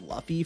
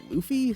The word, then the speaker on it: Luffy: how to pronounce this I've been reading this guy's name as Luffy for years but apparently it's Luffy so shout out to